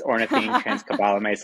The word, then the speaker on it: ornithine transcarbamylase: It's ornithine transcarbamylase activity. So it's very close, yeah. Okay. How do you pronounce it the correct way?